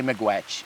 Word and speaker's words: miigwech: I'd say miigwech. Miigwech. Yeah, I Miigwech. mean I don't say it, but I mean that's in Anishinaabe Moine is miigwech. Miigwech. And if you want to say a big miigwech, that's Chi-miigwech.